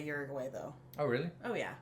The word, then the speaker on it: Uruguay: let us know which is closest to your pronunciation well I think I know you're applying this one Uruguay Uruguay oh do you usually do it like that and no we don't usually affect this one Uruguay yeah but yours is closer again I think